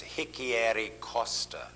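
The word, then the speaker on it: Richieri-Costa: Well, I call this entity uh I call this Hickeyi Costa syndrome. R I C H I E I Costa. Hicki, I know that's the R is pronounced with an H.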